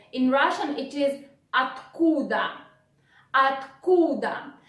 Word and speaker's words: откуда: In Russian it is откуда, откуда. Look, or we again pronounce like A, then combination of 2 consonants, tk, tk, tk, tk, откуда, откуда, откуда.